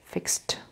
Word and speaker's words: fixed: So they are pronounced T, and E is silent.